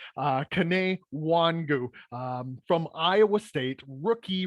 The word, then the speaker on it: Kene Nwangwu: primarily kick returner uh kane wangu and i apologize if that's not actually how you say his name um but i believe that is how it is said uh kane wangu um from iowa state